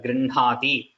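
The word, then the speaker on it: गृह्णाति: But traditionally, we always pronounce these na, ma, the two nas, na, and ma. When it comes along with ha like this, we pronounce it the other way, like Brahma, Grihnati or Grinhati, Vanhihi. All these we pronounce it this way. This is how the traditional Vedic pronunciation is.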